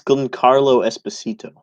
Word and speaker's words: Giancarlo Esposito: Like, maybe you can pronounce it, go. Well, it's Giancarlo Esposito.